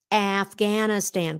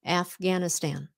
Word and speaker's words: Afghanistan: That's a very American pronunciation of it. Afghanistan. The long A, the short A.